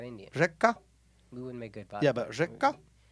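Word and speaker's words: Reyka: Reka vodka. Help him with the spelling. Reka? That sounds like an Indian girl. Yeah, but it's not Indian. Reka?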